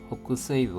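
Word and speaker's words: 北西部: 지바켓 호크세이브 호크세이브 하면 북서브입니다. 북을 호크라고 읽고 서를 세이라고 읽었습니다. 호크세이브 북서브 남부 남부입니다.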